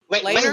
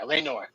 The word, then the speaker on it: Laenor: Is it Later, Laenor? yeah, Laenor.